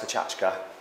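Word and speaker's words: Pecha Kucha: Pronounced Pachachka.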